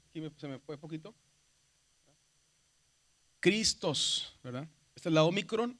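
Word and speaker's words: Χριστός: de la gramática moderna, que cuando está una ji y una ro, la pronunciación cambia a, por eso decimos cristos o Cristo, ¿verdad?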